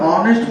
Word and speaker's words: honest: counterbalance honesty's adjective sirisha honest former now you can use and and honest H is silent clearly system woven Sami